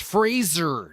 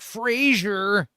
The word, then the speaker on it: Fraser: where he like I think he said something on the Daily Show like it's pronounced Fraser, not Frasier.